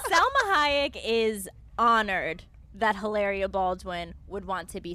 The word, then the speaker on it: Hilaria: I love that you pronounce her name like that, though, all the time. Ilaria. Hilaria? I mean, Hilaria.